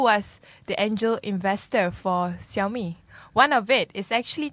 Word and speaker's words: Xiaomi: Okay, just to correct the Xiaomi the pronunciation, it's actually called Xiaomi.